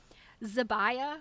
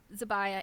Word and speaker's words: Zibiah: It was used by, here's a name we won't forget, Zibiah Smallwood Hewson. Zibiah is spelled Zibiah. I always feel like those ayah names, like Jeremiah, Jebediah, Zibiah, they're like big biblical names, I think.